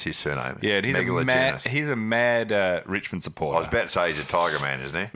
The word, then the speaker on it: Megalogenis: Wondered how you pronounce his surname. Yeah, he's Megalogenis.